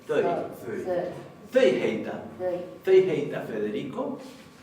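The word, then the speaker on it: þau: Pero recordemos que este pronombre no se pronuncia thou, sino que se pronuncia thøy.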